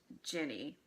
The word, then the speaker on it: Ginny: about Harry's relationship with Ginny and it's not a hard G and say it like gin I'm sad for you